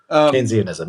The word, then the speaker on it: Keynesianism: the the military Keynesianism, is that how you pronounce it? Keynes uh Keynesian Keynesian. Yeah. Keynesianism.